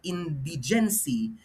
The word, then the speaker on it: indigency: Indigency, stress on the Indigency. first syllable here. Okay? Not indigency, but indigency.